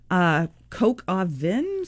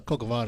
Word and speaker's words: coq au vin: Coq au vin. Oh, coq au vin. Okay. Coq au vin. Coq au vin. Yeah, Okay, coq now- au vin is, Now we're French. well, coq au vin is probably one of the most famous French